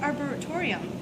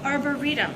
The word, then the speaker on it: arboretum: the Tall Tree um how do you say that arborium arborium Arboretum okay I I make my